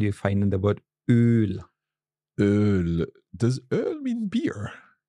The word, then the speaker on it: Öl: Yes, I'm also maybe slightly exaggerating it when I pronounce the long one. So it's like Öl, Olivenöl.